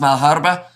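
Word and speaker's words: Malherbe: And also Hamish, old chap, it's pronounced Malharba, says Charles, and also we have got the when are you starting?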